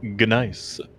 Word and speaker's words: gneiss: It's either Nice or I think that's how you say that. Yeah, I'm assuming the G is silent. Someone's gonna come in here and go, actually, it's Gneiss.